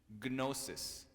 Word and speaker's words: gnosis: Gnosis. Kno. We don't pronounce the K.